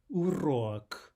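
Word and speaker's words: урок: Lesson, one might hear urok, urok, urok, something like this, right? Here we have the u and the or. The correct pronunciation is urok, urok. And finally, we want to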